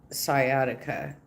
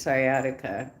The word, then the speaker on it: sciatica: Um, who was trying to give stretch advice to Foodie Beauty about her sciatica. And she kept pronouncing it sciatic. It's sciatica.